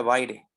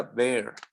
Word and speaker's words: Baire: No se pronuncia Baire, se pronuncia Bear.